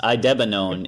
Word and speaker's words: idebenone: It's pronounced idebenone.